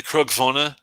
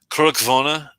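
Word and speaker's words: Cruach-Mhòna: I would say those two and the Krugvona from Bunnahaven. Krugvona, it's not spelled like it sounds, unfortunately.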